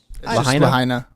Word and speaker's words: Lahaina: Lahaina. Lahaina? Yeah. Okay, I just want to make sure I'm pronouncing it correctly.